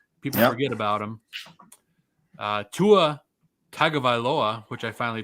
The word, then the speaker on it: Tua Tagovailoa: their secret weapon people forget about him uh tua tagovailoa which i finally pronounced right uh going up against the jets